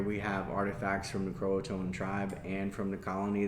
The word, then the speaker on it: Croatoan: So 100% of the time it's spelled Croatoan. It actually comes from the Algonquin word Croatoan, which means council town. So Croatan is just a hillbilly way of saying Croatoan. And I think, like, make the effort to say it right.